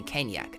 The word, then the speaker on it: Caniac: a sack of sating this is the Caniac and considering it rhymes with Maniac you can guess that